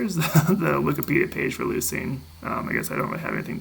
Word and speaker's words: leucine: If you convert that into English, the kappa usually ends up as a 'c' and ends up with more of an 's' sound. So even though it's 'lefko' in Greek it's 'leuc', 'leucine' when pronounced in English.